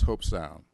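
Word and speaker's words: Hobe Sound: last three days uh stewart even learned how to pronounce hope sound uh it doesn't spell that way but they told me that's to actually pronounce it and i had a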